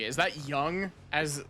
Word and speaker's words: Jung: J U N G. Is that young as like? I assume that that's pronounced as young and not Jung.